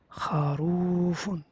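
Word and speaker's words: خروفٌ: Et donc dans la première page, tu dois prendre par cœur kharoufun. Tu le prononces de cette façon-là. Et je te dis ma hada, c'est quoi ça?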